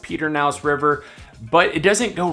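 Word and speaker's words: Pedernales: Fredericksburg does have the Perkins River technically is pronounced Peter naus River but it doesn't go right through the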